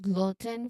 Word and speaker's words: gluten: For the pronunciation of gluten, remember it's gluten with a short a sound in the middle.